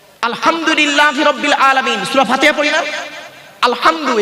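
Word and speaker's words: الحمد: রাব্বিল আলামিন সূরা ফাতিহা আলহামদু গলার ভেতর থেকে উচ্চারণ করবেন আলহামদু মানে হচ্ছে সমস্ত প্রশংসা আল্লাহ তোমার আমরা কি বলি আলহামদু এর মানে শুনবেন সমস্ত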